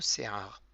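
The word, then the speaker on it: שֵׂעָר: Ça s'écrit avec un sin, le point en haut à gauche, qui est ponctué par un tséré. Donc ça fait Se.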